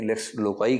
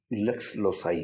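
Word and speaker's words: lex loci: इसको लेक्स लोसाई कहते हैं। कहीं-कहीं लेक्स लोकाई कह देते हैं। भारत में क उच्चारण करने की परंपरा लेक्स लोकाई कहीं-कहीं मिलता है। लेकिन इसका जो लैटिन उच्चारण है वो लेक्स लोसाई है।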